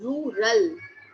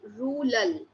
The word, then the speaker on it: rural: yeah okay then uh when you say pronounce the word rural so you are uh maybe saying it like Ral the r yeah R is not coming out clearly yeah yes so you